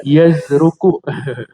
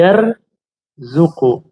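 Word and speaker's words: يرزق: yarzu qon ya karena ada murid ana yang baca yazruku Bukan yazruku tapi yar zuku. Jadi ro dulu baru zai gitu ya.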